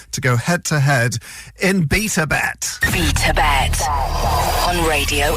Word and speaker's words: BetaBet: BetaBet on Radio X. She does pronounce that like B Tibet, doesn't she?